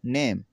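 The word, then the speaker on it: name: इसमें देखें टाइम, ये टाइम पढ़ाया जाएगा, टाइम वक्त, ई इसमें भी जो ई साइलेंट होगा। नेम रूल जोक, देखें टाइम वक्त, नेम नाम, जोक लतीफ़ा, जोक लतीफ़ा, रूल कायदा।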